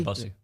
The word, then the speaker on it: Bussey: Yeah, Bussey.